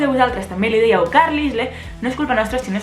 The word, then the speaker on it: Carlisle: O sigui, com es pot arribar a pronunciar Carlyle, Carlyle? O sigui, ai? La I no hi ha una I. I la S que se la menja. I la E al final també.